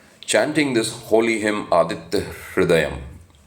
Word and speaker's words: Hrudayam: Chanting this holy hymn Aditya Hrudayam. It's also called Aditya Hrudaya Stotram. Hrudayam also, because in Gujarat and in some other places people do pronounce the Kri sound, right?